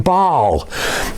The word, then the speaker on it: Baal: supposed to be worshiping God and not worshiping Baal. At this time, Baal was the idol that they were worshiping. That's spelled B-A-A-L.